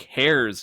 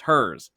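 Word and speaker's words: Herr's: But no, that's not how it's pronounced. No, it's hers.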